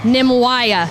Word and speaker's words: Nimwaya: Nimwaya, and that's because I cheated. Nimwaya? Yes, Nimwaya. Nimwaya. So And I pronounce N. How I wrote it down was N-I-M. So Nim. Nimwaya.